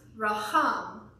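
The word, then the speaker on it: racham: Now this word mercy here, I have another weird word to pronounce, raham. Raham. Now if you want to know how to make that guttural noise in Hebrew, so raham. Good job.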